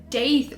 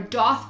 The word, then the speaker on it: daith: you who don't know a date or das piercing as some people pronounce it both ways are correct so don't come for me